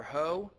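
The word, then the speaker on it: H0: is correctly distributed for ho it rhymes with no ho is always no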